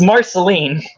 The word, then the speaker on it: Marceline: that is not at all say it it's Marceline all right Marceline Dione sorry I don't watch